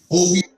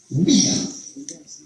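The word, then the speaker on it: Ouidah: It's pronounced Oweda. The French pronounced it Ouida. Right? That's how they pronounced it.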